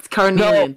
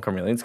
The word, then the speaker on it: Carnelian: Thank you for Carnelian. No, I was gonna say, so Carnelian's been asking for a while why their name's Carmelian now, because I keep calling them Carmelians because Ruby mispronounced it.